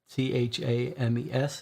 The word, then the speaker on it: Thames: at 26 upper Thames 10th Street I'm told t-h-a-m-e-s is pronounced Thames South work Bridge London October uh August 23rd 1888 that's our current year 1888.